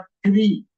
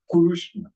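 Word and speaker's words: कृष्ण: Now comes Rukara. That is Ru, Kuru, Kurushna, Kurushna. हाँ, तो ये प्लीज याद रखिएगा, इट इज नॉट क्री, इट इज कुरु, कुरुष्ण.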